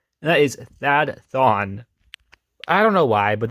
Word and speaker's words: Thawne: I'm very sorry but to me it just sounds wrong to say like I'm mispronouncing a name when I'm not it's actually pronounced that Thon anyways that thumb debuted